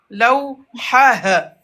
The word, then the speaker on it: لوحة: Lawha. لوحة. لوحة. Mhm. مقلمة. Mhm. مقلمة. Très bien. Miqlamah. مقلمة. Mhm. مدرسة. Mhm. مدرسة. Voilà. On dit lawhatun, mais quand on s'arrête, lawha. On va pas prononcer le T.